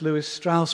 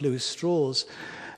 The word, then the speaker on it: Lewis Strauss: here uh it looks like it should be pronounced Lewis Strauss but he he insisted on calling himself Lewis straws and Lewis straw was head of the atomic